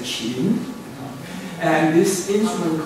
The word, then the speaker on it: Qin: it is these days it's romanized as Q-I-N, but it's pronounced as like your chin. You remember your chin, except you have to lilt it. So don't say chin, but you should say chin.